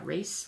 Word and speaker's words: wrasse: was a tricolor fairy wrasse or yeah race wrasse it's spelled WR ASSE and it's a very shy